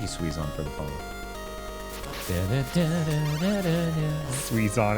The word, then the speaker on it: Suizon: Suizon is too close to Suezo. That's so mean. It's spelled differently. Okay. If it makes you feel better, it's S-U-I, not S-U-E.